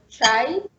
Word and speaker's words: chai: It's always Ch, like the Swahili word chai, which means tea, or in the English word chair.